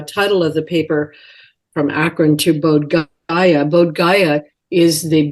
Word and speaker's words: Akron: know how to pronounce Akron Ohio some people say Acron it's Akron Ohio where I grew up